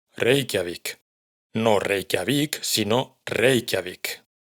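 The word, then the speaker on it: Reykjavík: Así pues, por ejemplo, el nombre de la capital de Islandia se pronuncia Reikiavik.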